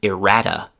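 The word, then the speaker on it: errata: This word is irrata. That's spelled e r r a t aa is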